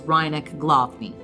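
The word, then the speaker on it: Rynek Główny: its City Center is reineck glofney the W's are always pronounced vs so we'll try to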